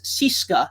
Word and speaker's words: CSKA: Russian Red Army team usually we see it as CSKA but Russians actually pronounce that as syska so the CSKA Moscow